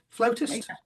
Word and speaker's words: flautist: Flautist. Yeah. Which one's the correct pronunciation?